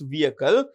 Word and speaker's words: vehicle: The H in vehicle is silent, so it's vehicle.